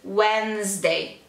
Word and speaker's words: Wednesday: como se fosse W-E-N-Z. Wednesday.